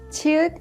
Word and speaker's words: 치읓: 치읓 is an aspirated sound with the burst of air, and it has the CH sound like in the English word chapel.